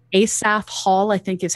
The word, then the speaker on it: Asaph: August observing run uh I'm not entirely sure how to say his name because it's an older style name asaph Hall I think is